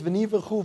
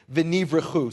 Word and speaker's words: venivrechu: It says, "V'nivrechu vo kol goyei haaretz," and in him all the nations, instead of families, all the nations of the earth will be blessed. And again, it's v'nivrechu.